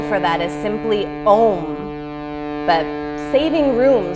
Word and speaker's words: Om: And the syllable for that is simply Om, but saving room. So if you're going to chant Om, chant the O and the M, because the O and